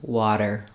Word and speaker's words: water: just gently Rel releases water water also you'll notice that my voice is on so sometimes it's helpful to think of it as a d water uh